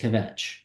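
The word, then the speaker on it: Kvetch: notes in the score it says that it's pronounced kavet and so um this is Aura SD's piece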